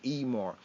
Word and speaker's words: Emor: Some might read as amore, amore, but the pronunciation of pointing is amore.